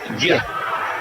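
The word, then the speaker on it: Geuye: It's G-E-U-Y-E, and it's just pronounced Gia.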